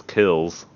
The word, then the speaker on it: Qhels: The name is Kills. Is Kills? QHELS.